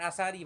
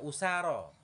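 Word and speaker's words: أسارى: kasrahnya takdir ya oh bukan Asari bacanya usaro enggak boleh Asari Wal usaro Kenapa ditakdir karena berat eh karena uzur maksur maksur usaro kalau kita baca Asari jadi mangkus kayak adadi kan nah usaro yang benar karena ya enggak ada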